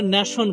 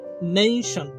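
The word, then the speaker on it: nation: সেই জন্য পরবর্তী যে শব্দটা আমরা, যেটাকে আমরা ন্যাশন বলি, শব্দটি ন্যাশন না নেইশন, হ্যাঁ, একটু ওয়েভ হবে সমুদ্রের ঢেউয়ের মতো, হ্যাঁ, তাহলে শব্দের উচ্চারণ হবে নেইশন, যেটাকে আমরা ন্যাশন বলি, এখন থেকে আর ন্যাশন বলা যাবে না, নেইশন।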